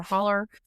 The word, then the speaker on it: Hollow: It's spelled H O L L O W. And I don't know if y'all pronounce it hollow or holler. The only hollow is Sleepy Hollow. You guys say holler.